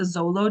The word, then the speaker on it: Xolo: Um, back when they would actually bury one of those dogs, a Zolo dog, Xolo, that's how you spell that, with the deceased, so that the spirit would guide them.